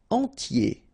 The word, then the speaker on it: entier: Entier. So remember, I-E-R, yé, okay, and then the T, tier, and the nasal before, en, entier.